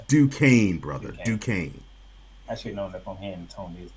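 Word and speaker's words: Duquesne: D like that it's du Kane brother due I should know this whole time Duke I forgot the S is silent Duke K 710 Washington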